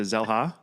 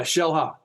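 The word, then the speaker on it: Xela: to I cannot pronounce is it zela it's yeah Shela Shela okay so I I've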